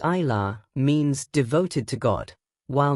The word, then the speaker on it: Isla: Isla, pronounced eye law, means devoted to God, while Marie is a family name that means wished for child and beloved.